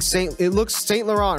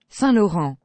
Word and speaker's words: Saint Laurent: Like, you think you're pronouncing Saint Laurent, right? You think you're pronouncing it right your whole freaking life. No, this is what it's supposed to sound like. Saint Laurent.